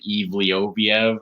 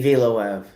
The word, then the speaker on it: Evloev: They were saying his last name differently on like the commentary last night. They were like Evlioviev or something. It's just Movsar to me. Evloev. Evloev. Yeah, I said it right